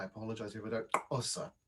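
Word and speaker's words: Xhosa: apologize if I don't, Osa, which is spelled Xosa. If you had to put it into Roman script, English script, but the sound that would be the sound of it, and that's a Southern African one.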